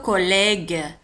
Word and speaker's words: collègue: الدراسة الزميل le collègue ج جي اي او تنطق ج لو كوليغ ان كوليغ كوليغ الزميل ان كوليغ لو كوليغ.